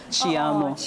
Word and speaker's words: te amo: in Portuguese, it's just the same but the pronunciation is "Tzi" - isn't that how it is in Brazil? - correct! (Tzi - amo) but it is really different in French -